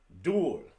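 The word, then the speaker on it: 둘: pronounced like this hana duel and it's pronounced like the word dual set that's easy net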